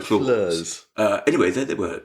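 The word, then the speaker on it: Floors: should spell yes it's spelled flaws but it's like flurs uh anyway there they were there he was at uh flurs and he was not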